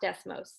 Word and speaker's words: Desmos: i always butcher this desmos i think it's pronounced desmos okay good i'm getting some thumbs up thank you all right so this is from desmos which i i know